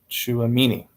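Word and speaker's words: Tchouaméni: the T oh yeah the t is silent okay so the T and the CH form a CH right makes sense it's like we have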